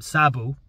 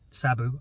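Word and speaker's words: Szabo: from Hungary and uh his last name is um sabu sabu I'm not sure if I'm pronouncing that right it's actually spelled s z a b o and uh in Hungary interesting fact they actually say the family name first and it's Sabu um so uh there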